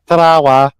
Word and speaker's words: Tarawa: I thought it was more sort of like a scouse, like Tarawa. Tarawa.